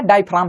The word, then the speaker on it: diaphragm: लोग इसको लिखते हैं डी आई पी ह आर ए जी एम difojan बोलेंगे जी इसमें साइलेंट रहता है इसको हम लोग बोलते हैं डायाफ्राम इसको याद रखना है